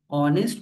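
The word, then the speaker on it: honest: ऑनेस्ट मैन में H silent है। ओ की आवाज आ रही है।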